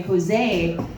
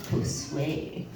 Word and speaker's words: Josue: I really thought we were like, I'm tired of people calling me Jose. That's not comedian enough. I'm gonna change that shit up, pronounce the U, Josue.